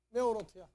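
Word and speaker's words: מאורות: 메오로트야. 아시겠어요? 요 꼭대기 요거 점 찍은 것도 오 발음이에요, 이게. 그래서 메오로트.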